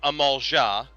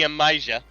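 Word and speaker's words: Amalj'aa: So, first off, those dinosaur men, they are the Amalja, not the Amija.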